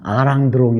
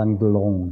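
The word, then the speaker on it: Alain Delon: 발음 은 'A' 이지만 , 우리 는 ' R' 소리 로 발음 해서 " 알랭 들롱 " 이라 고 말 합니다 . 원래 는 'L' 발음 입니다 . 그러므로 " 알랑 델론 " 이라 고 발음 해야 합니다 .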